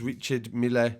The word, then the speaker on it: Richard Mille: young Bane he lost these 100 thousand pounds Rashard meal watch I'm told it's pronounced a lot of people have been pronouncing that what's wrong because I've heard a lot of rappers say that it's Richard Mille but deli alley as well this isn't even